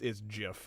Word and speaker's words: GIF: The creator did go on record saying it's Jif, like the peanut butter.